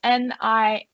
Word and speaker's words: Niamh: It's NIAMH.